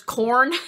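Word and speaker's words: Khorne: they're they're so awesome so it's corn it's spelled KH o R and E and he is the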